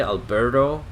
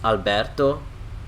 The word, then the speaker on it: Alberto: odd let me pronounce it the correct way because I've been pronounces this name in the time in the American Way Alberto but how we would say in Italy is Alberto they look at the USL diggidy Orton that's